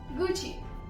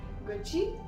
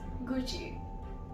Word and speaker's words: Gucci: The next one is my favorite brand, and it's from Italy, which is Gucci. Gucci. Now, the wrong pronunciations are kind of funny. Many people say Gucci, Gucci. It's not Gucci, it's Gucci.